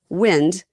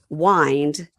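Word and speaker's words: Wynd: So lots of people with their house names are time to unwind unwinding right because it looks like unwinding but it's w y and d.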